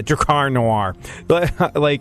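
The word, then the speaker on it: Drakkar Noir: rising cost of Camaros, Bon Jovi tickets, and Dracar Noir. Dracar Noir. Dracar Noir. That's how you say it? Yeah, Dracar Noir.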